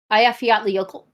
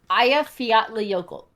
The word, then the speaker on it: Eyjafjallajökull: Okay, do you know how to pronounce that volcano? What? Eyjafjallajökull. You said it so quickly. Holy smokes. I practiced a lot. That's class. Eyjafjallajökull.